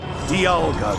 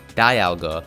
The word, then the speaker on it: Dialga: it D alga which is the way it's pronounced in all official Pokemon media Diga come forth Diga Dialga the master of time however it's very common to hear people also pronounce this as Dialga since dalga's name derives from the word diamond